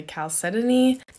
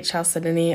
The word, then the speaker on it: chalcedony: about how that's pronounced some people say calcetony i say chalcedony or chelsea dhoni she also got tumbled